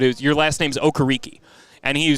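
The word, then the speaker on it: Okereke: home in California and everyone in the town calls them the okarikis but Bobby decided uh before the 2021 season that no listen I'm of Nigerian descent this is how it's pronounced get it right and I admired him so much for being the one to say Hey look it's pronounced okariki and or sorry okay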